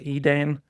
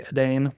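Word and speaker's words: Edain: Now, I did a little research, and there's a few ways you can pronounce this word. I say Edane. Some people say Adane. I don't. Either one, you know, do with it what you will.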